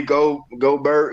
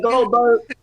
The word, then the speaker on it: Gobert: to do with Rudy Gobert and Karl Anthony Towns. Yeah. Even that's getting scary right now. That man is French. Say his name. Gobert. Man, Gobert, Sherbert, Gobert.